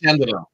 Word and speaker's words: DeCandido: Well, first of all, it's pronounced DeCandido.